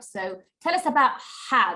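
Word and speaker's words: ح: So tell us about ha. This is called a sharp ha. So it is pronounced from the middle of the throat.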